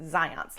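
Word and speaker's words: Zajonc: researcher named Zions yeah that's pronounced Zions like science but Zions found that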